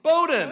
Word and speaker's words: Bowdoin: Is that the right pronunciation? Bowdoin. I should know that. That's right.